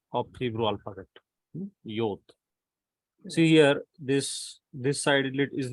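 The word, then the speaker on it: יוד: Yod. See here, this side is little curved. Some call it as Yud, Yod, whatever it is.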